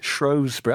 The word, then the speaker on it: Shrewsbury: season fighting relegation do you pronounce that correctly Shrewsbury I'm pronouncing it as Kelly told me okay she